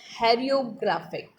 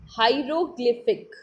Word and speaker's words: hieroglyphic: The Egyptian script is called as hieroglyphic. What's the name of Egyptian script? What's the name of Egyptian script? Hieroglyphic.